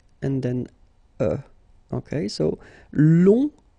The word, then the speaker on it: long: then uh okay so long remember you don't pronounce the final J will become long.